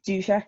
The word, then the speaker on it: Dudzik: I mean, officially it's like Duzek or something.